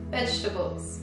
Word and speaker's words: vegetables: veget quindi verdura e l'ho anche questa sentita pronunciata in maniera scorretta quindi vegetables e tutte queste cose qui no si pronuncia vegetables Ok Clara ci farà